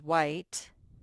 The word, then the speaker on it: white: So remember with white, it begins with a digraph. Two letters that spell one sound. W. Ite. White. That E is silent, but it makes that one say its name.